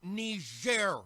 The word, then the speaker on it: Niger: It's pronounced Niger, Mr. President, and it's a country in Africa.